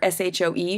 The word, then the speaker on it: shoe: SHOE, shoe, is an old pronunciation. It used to be pronounced rhyming with HOE, but it has retained the spelling, but the pronunciation shift.